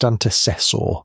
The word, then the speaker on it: antecessor: The teeth, scanned down to the junction between enamel and dentine, match neither Homo erectus nor Homo antecessor, pronounced antecessor from Spain.